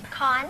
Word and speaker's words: Kon: And now I have Erika, and pronounce the last name. Khan. Khan. I did pronounce it properly.